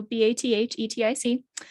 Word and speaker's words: bathetic: It is spelled like pathetic, but with a B. So Bathetic.